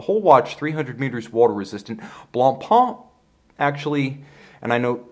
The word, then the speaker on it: Blancpain: watch 300 meters water-resistant blonde pomp actually and no some guys are gonna get on me for my pronunciation is Blanc ha I realize they actually